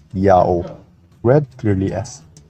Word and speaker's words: IAHO: Now the Latin letter H at the time of Jerome is an H sound if it's the first letter of a word, but if it's not, it's a silent letter. And Latin adopted that rule from ancient Hebrew, so IAHO is read clearly as Yao, read clearly as Yao.